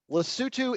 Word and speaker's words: Lesotho: I will not forget that this is Lesotho Lesotho is the way to appropriately pronounce this country and I apologize for the